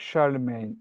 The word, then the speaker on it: Charlemagne: So, it's Charlemagne. Charm. That's it. That's it. Spot on. Charlemagne. That's it. Charlemagne. It's It's not obviously that. If you looked at it, you Oh my goodness. Looks like Charles Magny.